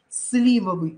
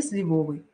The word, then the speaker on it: сливовый: щавель столяр маляр но правильно говорить торты ну никак не торты торты это будет правильно правильное произношение слова жалюзи но не жалюзи потому что когда в этом слове тоже частенько путаются запоминаем жалюзи французский вариант сливовый но не сливовый правильно слива сливовый и на это слово особое